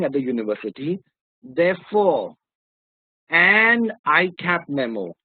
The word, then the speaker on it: ICAP: Therefore, an ICAP memo, not a ICAP memo, because ICAP starts with the sound I or ICAP, ICAP. Both the sounds, whether you take it this way or this way, both the sounds are vowel.